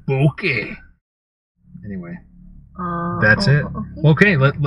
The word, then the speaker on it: bokeh: ah I call that bokeh it's called like the Japanese word for the beauty and things that are out of focus and I always like to exaggerate how you say it boki anyway that's it okay